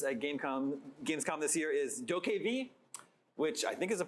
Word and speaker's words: DokeV: Técnicamente es de pronounced Dokev.